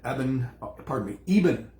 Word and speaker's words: Eben: And we had Eben is the gentleman, how it's pronounced, Alexander, MD, PhD, neurosurgeon, who had probably in Dr.